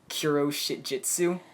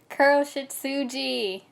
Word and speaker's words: Kuroshitsuji: When we get down to Black Butler, if I try to say it in Japanese, the Kuro Shitjitsu. Kuroshitsuji.